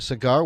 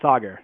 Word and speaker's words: Saagar: on the OTC alright cigar welcome to the show how are you good Michael thanks for having me my pleasure am i pronouncing your name correctly it's it's pronounced Sagar Sagar thanks for helping me